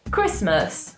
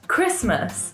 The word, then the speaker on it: Christmas: Christmas. Christmas. In this word, there is a T, but we don't pronounce this T. We just say Christmas.